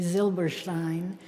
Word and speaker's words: Silberstein: I asked him how he pronounced his name. He told me any way I want. And then he told me, well, if we were in Germany, it would be Silberstein.